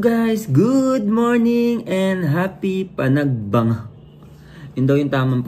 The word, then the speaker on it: Panagbenga: two What's up guys Good morning and happy Panag banga Yun daw yung tamang pronunciation pagbanga Festival here in Baguio City and